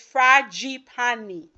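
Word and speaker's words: Fragapane: And of course, you can never count out my man, Gabriele Fragipani. I think I said it right, right? Somebody wrote out the corrections for me. It's Fragipani. If I'm wrong, let me know.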